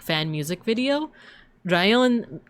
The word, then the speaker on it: Rion: Rion can mean thunder, but it's also how you pronounce lion in Japanese. So instead of lion, Rion, right?